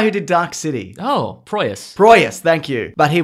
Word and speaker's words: Proyas: Alex Pryros. How do you say that guy's name? Who? The guy who did Dark City. Oh, Proyas.